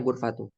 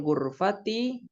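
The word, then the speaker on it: الغرفةِ: Tadi bacanya gurfatu. Sedikit koreksi. Bacanya dikasrohkan. Karena ini masih satu kalimat. Tilkal gurfati al kabirot.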